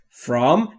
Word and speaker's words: from: جان از یعنی است فرام یعنی از دقت بکنید نگفتم فرام فرام بین اف و صدایی وجود نداره نداره ما هم صدایی اضافه نمی‌کنیم فرام یعنی از لندن